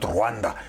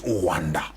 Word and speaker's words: Rwanda: I just learned how to pronounce it properly today. It's not Rwanda, it's Rwanda, Uganda, not Uganda, Uganda.